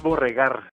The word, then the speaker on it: Borregar: Es Borregar. Borregar. Sí, es la pronunciación como la utilizo aquí en México.